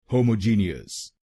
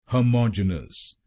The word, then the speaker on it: homogenous: इस शब्द को ज्यादातर लोग भारत में गलत बोलते हैं, जैसे होमोजीनियस। आइए सीखते हैं इसकी सही प्रोनाउंसिएशन। इसकी सही प्रोनाउंसिएशन है होमोजेनस। होमोजेनस।